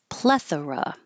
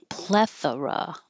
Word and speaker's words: plethora: and we started with plethora plethora and if this is a noun then the stress is on the first syllable progress and it could